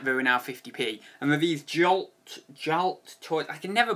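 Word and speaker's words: Galt: And with these Jalt toys, I can never pronounce that.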